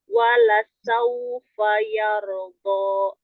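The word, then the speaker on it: وَلَسَوْفَ يَرْضَىٰ: Wala sawfa yarda. Sekali lagi. Wala sawfa yarda. Ya. Huruf sinnya sedikit ditampilkan Bun. Wala saufa yarda.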